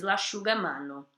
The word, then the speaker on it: l'asciugamano: SC com som de X, e já na sequência tem um I e um U. Então, l'asciugamano, quando você vai pronunciar isso rapidamente, você diz l'asciugamano, tá?